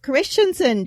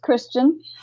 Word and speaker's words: Christian: to welcome Christensen to our podcast welcome thank you actually my last name is just Christian oh Christian yes it